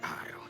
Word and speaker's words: Isle: I thought they were only active on the mainland, but they're here on High Isle. Rabble rousers and troublemakers, if you ask me. Mira, se pronuncia Isle, ya está.